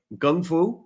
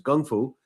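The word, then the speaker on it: Kung Fu: awesome uh systems like Gung Fu right that's a proper pronunciation everyone says Kung but it's Gung Fu uh and taii Hara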